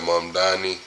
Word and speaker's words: Mamdani: Mamdani? Right. M-A-M-D-A-N-I. Right. Mungani.